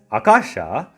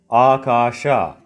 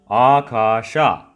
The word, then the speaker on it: Akasha: the Akashic Records library, here it should sound like Akasha. You have to drag the R sound, then it gives the meaning sky. To pronounce it again, Akasha.